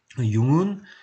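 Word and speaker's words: Jung: 그래서 마찬가지로 이분도 쓰기는 이렇게 쓰지만 이름은 융이라고 읽는다. 칼 구스타프 융, 이렇게 여러분이 보시면 되겠습니다.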